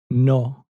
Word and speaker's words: no: in Spanish is to imagine there's an H after the letter O. So, it goes from no in English to no in Spanish.